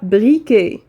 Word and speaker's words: briquet: الولاعة هي briquet. un briquet هذيك تي على فان ما تنقراوهاش ما كتنطقش.